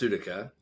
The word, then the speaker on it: Sutika: So it's pronounced Sutika. The Sutika.